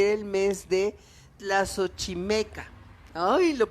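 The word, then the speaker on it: Tlaxochimaco: Era el mes de agosto y era el mes de Tlazochimeca. Ay, lo pronuncié bien.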